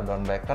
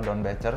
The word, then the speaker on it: Doernbecher: Yang pertama gue pengen nanya, orang ngomongnya suka salah, Don Baker apa Don Becher sih? Sebenarnya sih kayak nama ya mungkin pelafalan rada beda-beda ya. Cuma gue sih menyebutnya Doron Baker.